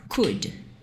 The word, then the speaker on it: could: jeito e o Code Apesar dele ter esse esse l e SD a gente normalmente não vai pronunciar normalmente não a gente nunca vai pronunciar esse ovo e esse l a gente só vai falar cuide então a pronúncia dele